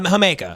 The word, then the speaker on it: jamaica: of called the it's it's spelled Jamaica is the drink yeah yeah yeah hamaica and my girlfriend was